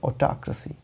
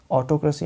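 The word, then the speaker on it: autocracy: राज किया जाता है उस देश में, उसे बोलते हैं ऑटाक्रेसी। ऑटोक्रेसी नहीं, ऑटाक्रेसी।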